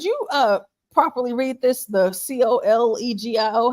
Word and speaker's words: colegio: The COLEGIO.